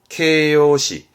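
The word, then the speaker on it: 形容詞: 케요시. 형용 동사입니다. 케요도시, 케요도시. 케요도시라는 건 보통 이제 일본어 공부하실 때 보게 되면 나 형용사라는 말을 하게 되는데 그 나 형용사, 그러니까 이 형용사는 케요시, 케요시.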